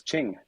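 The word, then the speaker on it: Tjing: this year is is Ching. Uh, so, okay. Probably most Canadians aren't familiar with Ching. Um, but it is it's spelled TJ I N G, and they are an app.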